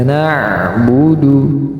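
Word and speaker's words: نَعْبُدُ: Nah di sini juga huruf Ain ya yang EE bisa dikatakan agak sulit ketika mensukunkan huruf ainnya dia mengalir nafas bukan berhenti bukan nau no Bu tetapi na Bu na Bu ada suara yang mengalir perhatikan Sekali lagi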